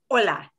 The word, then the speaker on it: hola: it is ch otherwise an h is never never pronounced oh yeah it is the only truly silent letter in the language so h is not pronounced hola the way we say